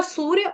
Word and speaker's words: सूर्य: में यत और सूर्य सूर्य को क्या बोला आपने वो था सूर्य उसके बाद ह आहा आपने बोला सूर्या सूर्या सूर्या बल्व की ड आती थी ना वो वाला सूर्य बोल दिया आपने तो विसर्ग का